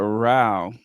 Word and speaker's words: row: And you guys were like, no, it's not pronounced like that. I'm like, you got into a row with someone? What was it, like a rowing contest? But it's a row.